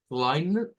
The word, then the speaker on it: kleine: Tiene que decir kleine, kleine, es una A hacia atrás, esa última que está ahí, de esta es una A media, es decir, no es la A nuestra que va hacia adelante.